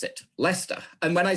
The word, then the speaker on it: Leicester: know that the following is a way to pronounce it, Leicester.